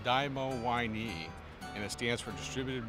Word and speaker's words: DiMoWiNe: us first of all how do you pronounce it it we we produce a dymo y knee and it stands for